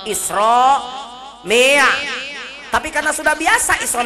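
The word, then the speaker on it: إسراء: Kalau barisnya fathah hukumnya tafkhim, bacanya tebal. Isra tapi karena sudah biasa Isra Mi'raj, jadi bismillahirrahmanirrahim, ibarat begitu jadinya.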